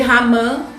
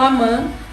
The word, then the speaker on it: Amã: Eu já ouvi com a pronúncia de Ramã, mas eu falo Amã.